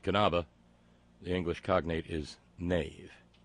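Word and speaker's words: Knabe: not curry Thurston no there are no silent letters not even K's in German for instance kanava pronounced kanava the english cognate is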